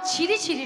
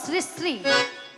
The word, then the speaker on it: শ্রী শ্রী: আরে মাসি, ওনার নাম ছিরি ছিরি নয়, হ্যাঁ। বলো শ্রী শ্রী। সিঁড়ি সিঁড়ি সিঁড়ি সিঁড়ি সিঁড়ি সিঁড়ি সিঁড়ি সিঁড়ি। আমি সিঁড়ি সিঁড়ি বলছি না, আমি বলেছি শ্রী শ্রী।